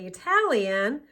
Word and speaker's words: Italian: in an unstressed syllable for example Italy the letter T is a flap T because it is located between two vowel sounds and in an unstressed syllables but when you say Italian there will there won't be a flap T because Italian is a stress syllable so Italy Italian or POS positive negative